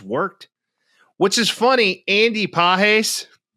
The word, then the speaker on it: Pages: Andy Pahes, his last name is spelled like Pais. Pages.